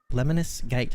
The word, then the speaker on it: Lemnis Gate: but mighty goose right booby scarlet nexus and lemonis gate that's how you pronounce that one that's covered by me um